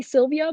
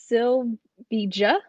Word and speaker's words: Sylvija: And by the way, I might mispronounce this, but I want to say Sylvia, but it's Sylvija dot P.